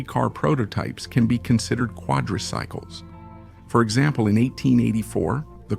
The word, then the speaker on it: quadricycles: That's how vehicles often called quadricycles appeared. That's not a deliberate mispronunciation on my part. The beginning of the term really does sound like quadri, and this term was